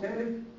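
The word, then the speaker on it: Salk: بالمناسبه يا جماعه بعض الناس انطقوا سالك وبعض الناس انطقوا سلك فاكسين. سلك او سالك زي الاسبايرو كيس.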